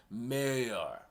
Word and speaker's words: Meurer: are you with rosie i finally know how to pronounce the sun name now it's mayor abby anyway whose side